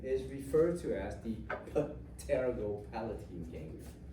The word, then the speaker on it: pterygopalatine: So one of these ganglion is referred to as the pterygopalatine ganglion. Obvious, the P is supposed to be silent. It sounds better when you pronounce the P. So pterygopalatine ganglion.